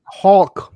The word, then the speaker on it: Hulk: Hulk. Please pronounce the L.